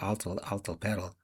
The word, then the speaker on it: Atl Altepetl: He’d read the article about the discovery of the underwater Aztec city of Atl Altepetl (pronounced Aht l Ahl teh pehtl) and the medallion that proved a sixteenth century Japanese fleet had reached Mexico decades before Columbus.